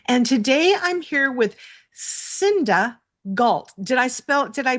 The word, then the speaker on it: Cinda Gault: I'm your host, Julie Fairhurst, and today I'm here with Cinda Gault. Did I pronounce that right?